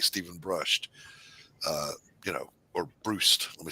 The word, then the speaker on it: Brust: I like Stephen Brust, or Brust. Let me say it right, Brust.